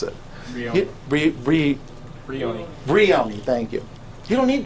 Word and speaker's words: Brioni: You don't need Baroni, yeah. I can't even pronounce it. Brioni, thank you.